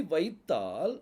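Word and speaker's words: בית: அந்த மாடர்ன் ஹீப்ல இருக்குது இந்த பெய்துக்குள்ள புள்ளி இருந்தாதான் அதனுடைய உச்சரிப்பு வந்து ப அப்படின்னு சொல்லி வரும் அதாவது இங்கிலீஷ்ல பி அப்படிங்கிற சவுண்ட் என்ன செய்யும் வரும் அந்த பங்கு உச்சரிப்பு வர்றதுக்கு அந்த பெய்துக்குள்ள என்ன இருக்கணும் புள்ளி இருக்கணும் புள்ளி இல்ல அப்படின்னா அதனுடைய உச்சரிப்பு வெத்துன்னு சொல்லி ஆயிரும் வெத்து வ அப்படிங்கிற உச்சரிப்பு வரும் இங்கிலீஷ்ல வி அப்படிங்கறது இருக்கும் சோ இப்ப பெய்த்ல புள்ளி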